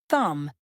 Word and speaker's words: thumb: The letter B is silent in words like comb, thumb, and climb.